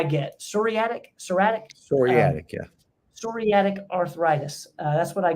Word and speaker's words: psoriatic: psoriatic serratic psoriatic yeah psoriatic arthritis uh that's what I get for trying to correct you yeah the p is silent psoriatic arthritis yeah um you